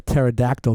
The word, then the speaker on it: pterodactyl: can never hear a pterodactyl go to the bathroom take give up cuz the p is silent cuz P at the